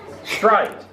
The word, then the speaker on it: straight: So what's a word that has the spelling A-I-G-H in it? Oh. Yes? Straight.